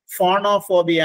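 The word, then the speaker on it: phonophobia: എൻ ഒ പി എച്ച് ഒ ബി ഐ എ ഫോണോഫോബിയ എന്നാണ് ഉച്ചാരണം.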